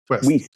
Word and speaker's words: Wiest: John Lithgow as Reverend Shaw Moore, Dianne Wiest or Weist? Wiest. Wiest, thank you. I mispronounce all names except Chinese ones.